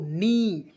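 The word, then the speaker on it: knee: के N double E तो इसे पढ़ेंगे दोस्तों नी के को साइलेंट कीजिए दोस्तों क्योंकि मैंने के साइलेंट वर्ड्स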